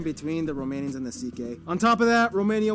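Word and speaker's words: Székely: Then we get to the CK people, the second most populous minority. Yes, that's how you pronounce it, CK.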